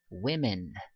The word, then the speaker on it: women: 그래서 얘 발음을요. women, women, women 이렇게 발음을 하셔야 됩니다.